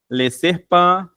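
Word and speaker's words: les serpents: L serpan, apesar de ter s, a gente não pronuncia.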